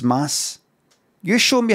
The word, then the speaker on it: Mads: sub but no thanks it's pronounced Mass you showed me how